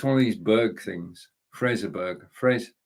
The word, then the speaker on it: Fraserburgh: Fraserburgh. Fraserburgh. Like Edinburgh, it's spelt the same way, isn't it? So it's Fraserburgh.